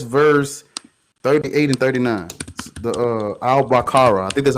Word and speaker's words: Al-Baqarah: The Al-Baqarah. I think that's how you say it. Al-Baqarah, yeah.